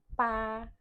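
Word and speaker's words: 八: Nah, untuk 8, pa pakai B, nadanya 1. Nah, karena pa B, jadi bacanya P tanpa udara, nadanya 1.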